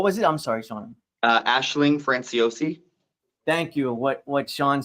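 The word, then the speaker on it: Aisling Franciosi: FR Ashling what was it I'm sorry Sean Ashling franciosi thank you what what Sean said she is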